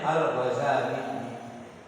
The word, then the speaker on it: Al-Ghazali: Yang kedua ya, kalau tadi yang pertama Ghazali, yang paling masyhur ditahfidz dengan tidak menggunakan tasydid. Jadi bagusnya bacanya Al-Ghazali.